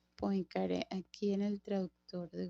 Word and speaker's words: Poincaré: se pronuncia Poincaré aquí en el traductor de Google.